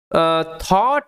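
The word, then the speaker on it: thought: বাট কিন্তু থট ইট টু B another lion, but কিন্তু থট, এই যে ও ইউ জিএইচটি, এটার উচ্চারণটা অট, ওকে, আর টিএইচের জন্য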